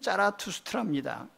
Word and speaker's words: 짜라투스트라: 이 조로아스터라는 말은 헬라어식으로, 그리스어식으로 발음한 것이고, 페르시아식으로 발음하면 짜라투스트라입니다.